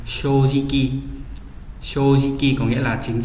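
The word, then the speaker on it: 正直: Thì nếu mà ghép nó đọc là C chốt cự, thế nhưng mà đặc biệt chính trực lại không đọc như vậy mà đọc là gì nhỉ? Shojiki.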